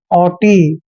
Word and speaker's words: haughty: जहां भी टी से पहले GH आता है तो GH वहां पर हमेशा साइलेंट होते हैं, इसलिए H को हमने